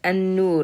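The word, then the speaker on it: النور: If it was this, we would have pronounced it an-nur because you have alif lam and then a noon. Alif lam and then noon. Noon uses your tongue, therefore you pronounce it with the shadda.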